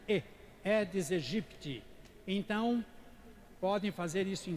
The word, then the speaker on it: Aedes aegypti: né da onu é deseje pitt não é aedes aegypti que porque ela tinha lá tinha essas duas palavras aí quando estão juntas se pronuncia e dizer jipe ti então podem fazer isso